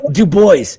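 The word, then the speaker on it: Du Bois: Uh, number one, Dubo. He was very particular about his name. Dubo is actually how it's pronounced, believe it or not.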